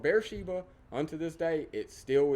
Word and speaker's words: Beersheba: it will be called Beersheba. Unto this day, it still is. There is a large modern city built just outside of this picture. They call it Beer Shiva. They pronounce it with a V.